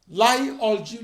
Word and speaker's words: Lie: The differential equation plays a central role in subdisciplines of mathematics, such as complex analysis, Lie algebra theory [pronounced /liː/ "Lee"], and probability theory.